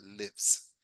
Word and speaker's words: lives: Y su tercera persona, que es igualito aquí, pero este sí se pronuncia lives, lives, lives.